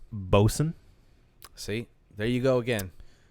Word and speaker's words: Boatswain: this brand uh i know it looks like boat swain but it's actually pronounced boson see there you go again yeah really sorry